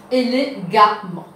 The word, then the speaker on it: élégamment: Et ici, nous enlèvons ANT, nous vous mettons A-M-M-E-N-T, et les pouvines, élégamment.